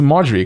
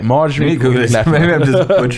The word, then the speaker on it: Marjorie: do margaery courtney latimer is a margaery because this is spelled super weird but okay marjorie no no you are right m-a-r-j-o-r-i-e my reading's just horrible